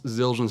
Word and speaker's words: Zildjian: I was gonna ask and then cymbals cymbals Zildjian cymbals all that's how you say it I was it I wasn't gonna ask is this is ill Jen I didn't know how to say it for